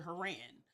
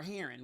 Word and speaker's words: Haran: of the Chaldeans to Haran. Or Haran, whichever way you want to pronounce that.